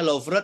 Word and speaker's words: Louvre: Prancis ini susah nih. Tulisannya Louvre tapi ditulisnya dibacanya Louvre gitu ya.